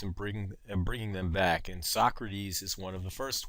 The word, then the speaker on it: Socrates: It's spelled Socrates, and don't pronounce it wrong. It's Socrates.